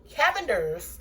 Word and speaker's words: Cavender's: using accent my cabinets I mean my Cavender cavendary Cavenders is how you pronounce it my Cavender's all-purpose greek seasoning my